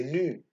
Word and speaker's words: nu: On le prononce nu.